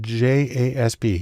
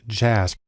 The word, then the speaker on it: JASP: open source community has developed a program called jasb it's actually pronounced jasp which is sort of an open source version